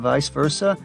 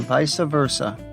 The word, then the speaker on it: vice versa: This word is pronounced primarily in two different ways in English, with neither being considered more correct than the other. Vice versa and vice versa.